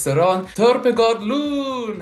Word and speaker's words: Søren: Søren. Søren. It's without the R. It's just like Søren. Søren. Søren.